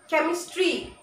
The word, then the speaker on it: chemistry: School, stomach, chemistry, character, characteristics, scheme, schedule. So the ch words which are derived from Greek or German language have the pronunciation k.